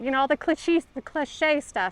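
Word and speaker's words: cliché: You know, all the clich cliche stuff. It's not clushy. Cliche, right? Is that how you say it? Cliche. Yes. Yes.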